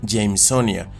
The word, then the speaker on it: Jamesonia: donde géneros como este, que podríamos pensar que se pronuncian como Jamesonia, en realidad deberían pronunciarse Jamesonia, aunque la escritura debería quedar igual que como en el inglés.